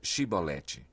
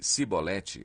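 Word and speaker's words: Chibolete: Se respondesse que não, diziam: "Então diga Shibolete." Se ele dissesse Sibolete, sem conseguir pronunciar corretamente a palavra, prendiam-no e matavam-no no lugar de passagem do Jordão.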